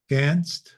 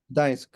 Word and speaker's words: Gdańsk: Ganst? Is that how you say it? Gdańsk.